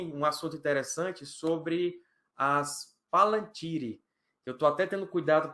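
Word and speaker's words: palantír: Então, eu tenho o costume de falar Palantir, mas o certo é Palantir.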